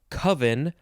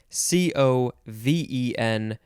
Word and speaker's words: coven: in this episode is coven or coven c-o-v-e-n noun from circa 1520 i believe most people say coven and not coven one a collection of